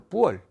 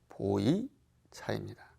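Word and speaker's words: 普洱: 거의 맞닿는 곳 거기에 지역 이름이 중국말로 뿌월 우리말 발음으로 보이차입니다 그래서 그 보이차는 오래될수록 그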